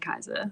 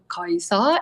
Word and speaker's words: Kiesza: So there is someone in the Philippines I know for certain named Kiesza. Wow. But I bet they pronounce it different.